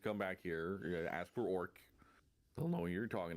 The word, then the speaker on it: Awrk: It's spelled weirdly though. It's AWRK. Okay. R. So it's Orc. Orc. Orc. Yeah. Okay. So it's not ORC like we normally would spell how like my people is spelled, but like Orc.